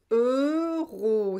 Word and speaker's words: euros: pour vous en général c'est difficile de prononcer euros en plus il y à la liaison 90's euros the row euros c'est très très fermé euros il ya le